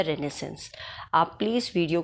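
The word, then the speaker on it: Renaissance: तो सबसे पहले है रिनेसेंस था क्या रिनेसेंस सबसे पहले 1500 से लेकर 1600 60 तक के पीरियड को रिनेसेंस कहा गया है इसको आप रिनेसेंस प्रोनाउंस करेंगे इट्स नॉट रेनेसा रिनेसेंस है ये और इसकी एक स्पेलिंग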